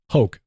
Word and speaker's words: Hoch: It's pronounced Hoke. Hoke, okay.